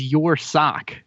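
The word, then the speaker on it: Ursoc: know how to pronounce I thought it was your sock like y your sock smells very bad your your sock it's your sock OK sock yeah yep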